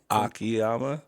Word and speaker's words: Akiyama: Akiyama.